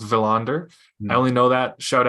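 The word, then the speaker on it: Willander: with is Tom valander willender is pronounced villander I only know that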